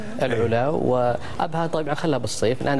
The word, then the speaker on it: العلا: طنطوره وفي كثير من دكتور نطقها سليم العلا ولا تس الع الع اي نعم العلا وابها طبعا خلها بالصيف